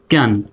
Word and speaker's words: can: সি তো এখানে ক, এ জফলা আকার, এনতে হলো দন্ত ন। তো হয়ে গেল ক্যান, CAN, ক্যান। এখানে সির উচ্চারণ দ্বন্দ্ব স, কিন্তু এখানে সির উচ্চারণ কর মতো হয়েছে।